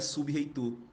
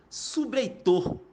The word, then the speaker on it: sub-reitor: o-você pronuncia isso de maneira diferente você não pronunciaria sub-reitor você pronunciaria subir Heitor onde você transformaria esse b&r aí e uma